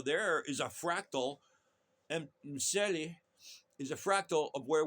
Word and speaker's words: Mseli: Right up front, I want to talk about my friend from Tanzania, and he's got this app, MSLE MSELI. Get used to pronounce Mbate.